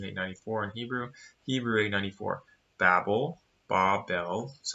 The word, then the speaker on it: Babel: Babel, that's how you pronounce it, from 1101.